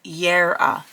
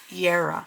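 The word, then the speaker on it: Jera: And I am so glad to say that it gives you a pronunciation of the runes, which J-E-R-A is pronounced Yera, Yera.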